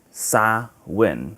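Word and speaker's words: Samhain: off of a Celtic celebration called that it's pronounced saw when it's a Celtic celebration so Celtic like Irish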